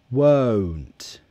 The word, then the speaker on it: won't: difference oh oh oh so your mouth the jaw closes a bit with this one and your lips close as well like this watch again oh oh oh think of wow like the second half of wow oh oh kind of